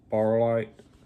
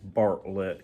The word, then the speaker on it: Bartlett: So, uh, Harold was created by Craig Barlite or however you pronounce his name. And I just noticed Barllet, sorry, kind of hard to actually Bartlett.